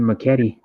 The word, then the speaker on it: Makati: Yeah, he was born in Makati. Is how you say it.